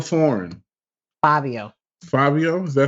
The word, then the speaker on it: Fivio: Fivio Foreign. Fabio, is that how you pronounce that? That's how you pronounce it. All right. It's like the FIV in the number 5 because clearly.